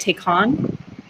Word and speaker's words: Taycan: Do you say it Taycan?